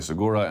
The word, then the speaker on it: Segura: Luke Thomas, MMA Fighting, Sirius XM, MMA Fighting owned, Segura, and then MMA Fighting and the Ringers. I say the hard G there.